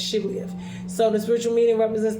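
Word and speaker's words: Shibboleth: They would say Siblioth when it's Shiblioth.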